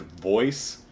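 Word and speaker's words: VOEZ: It's called, I think, Voice. It's spelled V-O-E-Z in all caps.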